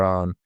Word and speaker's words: Avon: It's called the River Arn. It's spelled Avon, which comes from the Gaelic Avon, meaning water or river.